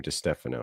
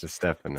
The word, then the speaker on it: DiStefano: and then put in my last name, DiStefano, and you'll find it. DiStefano. Yes. DiStefano. See, if you keep mispronouncing it, then they're going to mispronounce it as well.